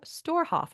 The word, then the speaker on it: Storhoff: executive director of the witas symphony orchestra Tim storhoff am I pronouncing your last name correctly that's right we're